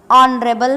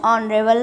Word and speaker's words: honorable: The second word is honorable man, dash honorable man. As you can see that, as you can hear that, honorable. Honorable, H is silent in honorable and the second letter is vowel.